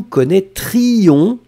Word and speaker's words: connaîtrions: Donc, vous allez prononcer « je connaîtrai les deux », tu connaîtrais les deux, il, elle connaîtrait les deux, nous connaîtrions, insistez bien sur le III, vous connaîtriez, il connaîtrait, elle connaîtrait.